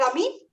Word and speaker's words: Amin: Is that Amin? You got it.